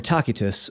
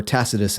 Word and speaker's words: Tacitus: A.D the Roman author takitus or tacitus as you may have heard it pronounced wrote a book called